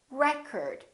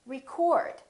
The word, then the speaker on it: record: another word this word if it's a noun it's pronounced as record the first syllable is stressed record this o changes